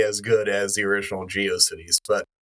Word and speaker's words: GeoCities: Yeah, I've I've been I've been uh thoroughly shamed in my in my pronunciation of geiosities. So, um so I've I I've come around to saying it's Geio Cities.